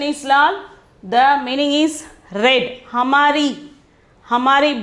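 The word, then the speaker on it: लाल: Okay, lal, pronunciation is lal.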